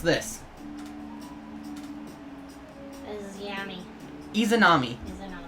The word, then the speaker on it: Izanami: Izanami. Izanami. Like edamame.